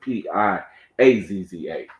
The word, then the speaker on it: Piazza: I hope I'm saying it right because it's spelled like pizza, just like the kind of pizza we eat. Pizza. P-I, no, it's not. Matter of fact, it's Piazza.